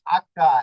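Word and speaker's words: acca: অক্ষরের একটু ব্যবধান রয়েছে এই এইচ হয়ে গেল আক্কা এখানে এই অক্ষরটা একটু চেঞ্জ হয়েছে তবে আক্কা এর উচ্চারণ হয় না এটা হচ্ছে মিউট থাকে এই অক্ষরটাকে ইতালিয়ান ভাষায় আক্কা মুতা বলা হয় মুতা বলতে মিউট মানে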